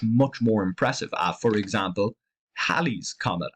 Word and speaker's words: Halley's Comet: For example, Halley's Comet. Halley's Comet, I believe, is the correct way to pronounce it. Something always makes me want to say Halley's Comet.